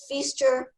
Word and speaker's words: Feister: And I always tell everybody, including judges, feaster rhymes with Easter.